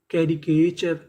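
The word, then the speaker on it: caricature: अगर बीच में आपको सी ए लिखा मिले तो उसे पढ़ते हैं के। टी यू आर ई। आपको पता है कि इसे पढ़ना है चर।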